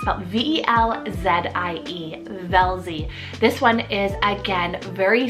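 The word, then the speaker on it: Velzie: we have the name velzy it's about v-e-l-z-i-e velzy this one is again very sweet fun with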